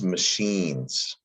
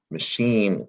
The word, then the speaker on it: machine: shines no this is machines and it's tricky because machine the root word is a french word machine and the ch makes an sh sound doesn't it machine